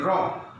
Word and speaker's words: rob: hope, and next come rob, R-O-B, rob, R-O-B, rob, and another robe. খেয়াল করো উচ্চারণটা, খেয়াল করো রব মানে সোজাসুজি হবে, আমাদের উচ্চারণটা হবে এখানে সোজাসুজি রব।